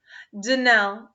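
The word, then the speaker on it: Donnell: would said it right danelle accent on the last syllable and saint claire on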